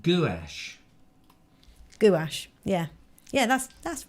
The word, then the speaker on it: gouache: Colonel Craigrate says it's pronounced gouache.